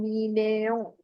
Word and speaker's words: mignon: And you read that as mignon. This is not mignon. If you remember, GN gives you the sound of near. Isn't it now? We have read the on near already. So it gives you the sound of near in Hindi. So it will become mignon, ya mignon.